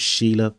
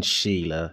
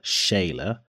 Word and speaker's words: Sheila: but throughout the interview, I was calling Sheila, Shayla, because one of my best friends, who's practically a sister to me, her name is pronounced Shayla and it is written Sheila.